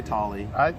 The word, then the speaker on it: Toly: Tolley Park. Potato. Some people say Tolley. I tend to say Tolley, but you said Tolley earlier. I want to make sure we're pronouncing it right. So either is acceptable.